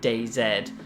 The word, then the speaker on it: DayZ: little bit of a backstory for you about DayZ, or DayZ, however you want to pronounce it.